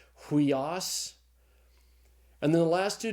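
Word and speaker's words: υἱός: And so the Greek word is pronounced huios. Notice that's the rough breathing over the iota. Huios.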